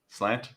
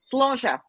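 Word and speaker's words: sláinte: __ ] clue vero slate come on cellante slant nope it's the word used for cheer and it's pronounced sloshia like uh i'm very surprised that daniel got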